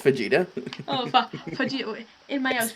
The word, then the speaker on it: fajita: if I had to eat fajitas with salsa for the rest of my life, you'd make me cry with joy. Love it. It's pronounced fajita.